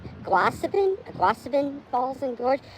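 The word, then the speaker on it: Aguasabon: I kept calling it Aguasabin for a while. I don't know how to pronounce it, but our GPS thing said Aguasabin, and it takes a while to get used to saying it like that.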